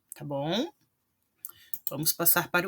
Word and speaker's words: bom: Quando a palavra termina em M, eu não pronuncio o M, ele simplesmente me indica um final nasal. Então, fim, bom. Estão vendo? Vejam que eu não falo fim, bom, né? Eu não vou pronunciar o M, tá? Ele fica assim com um som nasal.